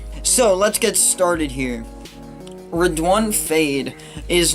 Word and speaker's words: Redoine Faid: thank you to falconry Morocco for correcting my pronunciation on her don't fade it's actually pronounced red one red one fade I want to give another thanks to I